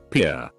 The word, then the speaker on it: Pierre: capital of south dakota pierre wrong she kept saying here two syllables like the french name and he said it was here one syllable like what you fish off of he